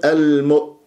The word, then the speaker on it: المؤمنين: همزات هذا ايضا خطا فلازم انت تقفلها تماما المؤمنين المؤمنين عندك يا ساكنه قبلها